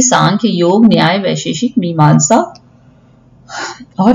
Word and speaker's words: सांख्य: देखिए स्पेलिंग में एम लिखते हैं लेकिन हिंदी में सांख्य पढ़ा जाएगा।